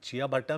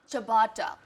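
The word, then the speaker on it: ciabatta: तो कैसे प्रोनाउंस करते हैं इसको? चबाटा. चबाटा. चबाटा bread. It's और एक चमाटा मार देंगे. चबाटा. It's चबाटा. First time I swear on you.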